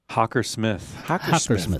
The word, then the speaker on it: Hockersmith: say your last name I never knew that Hawker smithw got it got it okay cool yeah yeah